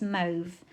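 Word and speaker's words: mauve: a bit of controversy about how we are pronouncing it but for me it's move it's always been moved and it always will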